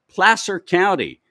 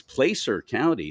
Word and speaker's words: Placer County: dancing pleasure direct from plaster County which I hear people in the media mispronounce it all the time it's Placer County no it's pler County